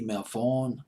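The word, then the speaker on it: Melvoin: Coleman sang backup remember Wendy and Lisa Wendy Mel Vaughn by my name is pronounced her last name Lisa the keyboard player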